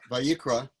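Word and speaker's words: ויקרא: First in how do you pronounce that, Jerry? Vayikra.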